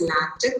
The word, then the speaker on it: LaTeX: i say lactic so remember the pronunciation x sounds as ch so that is why written over here it you can either call it as lactic or you can also